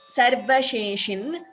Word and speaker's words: सर्वशेषिन्: This is a Halanta here again. Those who are looking at the Devanagari, that is Sanskritam script. This line here for Na, that is a Halanta. So we pronounce it half.